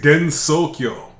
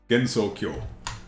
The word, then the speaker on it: Gensokyo: It is Gensokyo. Yay! How do you spell it? Gensokyo. You spelled it right. In English would be Gensokyo. Gensokyo. Okay. I think I spelled it wrong then. An important Like thing to remember. Tokyo, but with Genso.